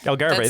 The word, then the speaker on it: Algarve: Algarve. There you go. The Spanish pronunci.